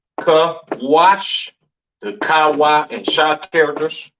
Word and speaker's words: Kush: kushites you understand uh pronounce kawash in the Hebrew Syrian spelling over here to the right kaash the Kawa and sha